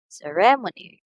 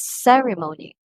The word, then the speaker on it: ceremony: first word we have ceremony again ceremony so the first syllable receives the emphasis in pronouncing the word usually some people pronounce this as ceremony but the second syllable